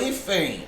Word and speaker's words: hífen: Ó, a palavra hífen, a sílaba tônica, ó, é a penúltima.